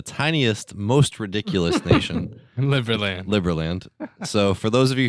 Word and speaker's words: Liberland: Liberland.